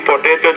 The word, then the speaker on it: potato: With eating potato chips, college students came to potato chips. Put more air on the P.